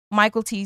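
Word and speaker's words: Mykelti: and it seems that his name is correctly pronounced Michael T so sorry if we said it wrong in the past but anyway Michael T Williamson is Bubba and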